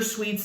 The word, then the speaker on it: suits: the cups suits um you know suits or sweets depending on how how you say it or where you are it does not matter